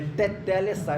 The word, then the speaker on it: tetelestai: É tetelestai. Fala Dedé. Fala Dedé. Agora coloca o T, teté. É assim que fala, tá, irmãos? A sílaba tônica está na segunda.